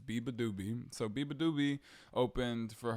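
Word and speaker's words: beabadoobee: Biba doobie excuse me I've had trouble figuring out how to say her name her name is Biba doobie so Bieber doobie opened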